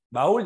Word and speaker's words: baúl: Baúl lleva tilde, sí, porque es termina en este caso. Oye, ¿qué es eso? No. Porque la U tiene mayor fuerza de voz que la A.